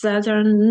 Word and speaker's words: Saturn: Saturn не читаємо.